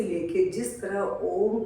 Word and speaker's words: ओम: ओम, ओम में म को थोड़ा सा लंबा रखें, क्योंकि ये मस्तिष्क को शांत जल्दी करता है।